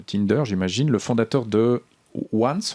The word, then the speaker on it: Once: Le fondateur de Once, on doit le prononcer à l'américaine, c'est le nom de l'entreprise, croit que la durabilité peut aussi rimer avec les technologies de l'information. Oui, Once, c'est une start-up dont